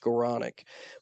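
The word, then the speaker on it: Skowronek: And he spells his name S-K-O-W, by the way, but it's pronounced Skoranek.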